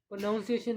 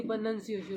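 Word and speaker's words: pronunciation: ऐसे बोला जाता है जी, प्रोनाउंसिएशन नहीं होती, प्रोनंसिएशन होती है।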